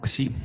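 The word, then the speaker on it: ξ: Ya sugiero pronunciarla como xi, porque ji es Sí, otra letra que se escribe como x, ¿verdad? Este es ji. ok. Bueno, entonces, sí, con P, ¿no? Sí. No, es No, xi como Xenia, como oxígeno, como ok, occidente.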